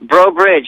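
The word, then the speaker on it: Breaux Bridge: Brobridge. You nailed it. I'm so proud of you. I'm so proud. Yeah, no, I'm from a little town called Brobridge, Louisiana, near Lafayette, Louisiana.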